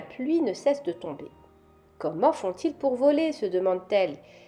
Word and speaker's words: comme: de sable pasons maintenant au mot suivant il s'écrit C o M m e et il se lit comme il est habillé